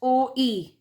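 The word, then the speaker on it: Ø: The empty set is denoted by the Danish letter which is pronounced as OE, right?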